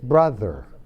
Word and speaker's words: brother: brother brother padres hermano es un sonido entre una hay Zeta es brother es la pronunciación correcta a veces usted se oye la th como una d pero no es nuevo Pero rápido uno